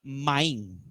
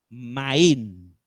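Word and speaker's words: מים: La palabra agua en hebreo significa maín. ¿Cómo es? Maín. Agua significa maín.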